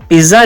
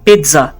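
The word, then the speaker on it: pizza: इसको हम पिज़्ज़ा नहीं कहेंगे, इसको हम कहेंगे पिज़्ज़ा, पिज़्ज़ा। अपनी जुबान को दांतों के साथ टच करें, पेट, और फिर कहें ज़ा, पिज़्ज़ा, पिज़्ज़ा। दोस्तों पोमीग्रेनेट नहीं कहते इसको पोमीग्रेनेट कहते हैं।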